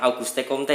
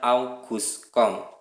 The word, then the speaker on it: Auguste Comte: Nah, jangan Auguste Comte ya, tapi Auguste Comte. Malu sama guru bahasa Inggris kalau bacanya Auguste Comte.